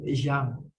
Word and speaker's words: Jean: Ini bacanya Jin ya. Kalau dalam bahasa Amerika biasanya Jin gitu. Tapi kalau ini adalah nama Perancis biasanya disebut Zhang.